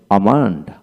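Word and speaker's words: almond: হবে না তারপর আসেন আমান্ড আমন্ড এল উচ্চারণ হবে না তারপরে কয় কয় কিউ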